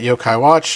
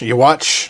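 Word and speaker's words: Yhwach: just a moment but let's look at yo-kai watch y watch you like don't say yo-kai watch just say his name uh but here he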